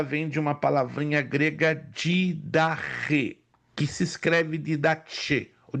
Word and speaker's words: Didache: Se você não se lembra, a palavra doutrina, ela vem de uma palavrinha grega didache, que se escreve didache, ou didache, com CHE, que quer dizer ensino originalmente dado pelos apóstolos.